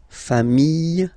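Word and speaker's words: familles: put this s okay final s not pronounced fam singular form fam plural form same pronunciation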